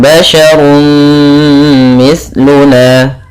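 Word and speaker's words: بَشَرٌ مِثْلُنَا: Kemudian basyarun mithluna, pada lafal basyarun mithluna di sini ada fathatain, ya maaf, ada dhammatain bertemu dengan mim, yaitu kita namakan dengan idgham bi gunnah, yaitu cara membacanya adalah masukkan suara runnya kepada mim, maka kemudian menjadi basyarum mithluna.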